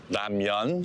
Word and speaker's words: ramyeon: In Korea it's more ramyeon. So think of it with a Y in between the M and the EON. Well, we've got our ramyeon from a convenience store.